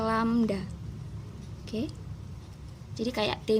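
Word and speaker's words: lambda: lihat sendiri ini kalau ada tanda begini ya ini dibacanya lamda oke Hai jadi kayak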